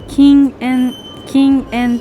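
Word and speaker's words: 禁煙: この漢字は禁煙と読みます。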